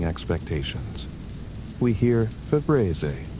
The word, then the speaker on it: Febreze: But it's F-E-B-R-E-Z-E, with only one E, a spelling that violates the phonetic expectation our brains have when encountering a word that sounds like breeze. The psychological mechanism involves phonetic spelling expectations. we hear Febreze pronounced.